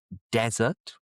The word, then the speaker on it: desert: the Atakama, the Gobi Desert. Stress at the beginning desert.